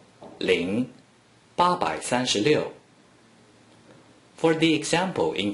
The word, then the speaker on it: 零: In other words, no matter how many zeros from the beginning of a small number inside the green circle, it is simply pronounced ling.